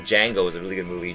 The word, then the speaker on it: Django: I I like Django was a really good movie. Jango. The J is silent, You know, it's hilarious.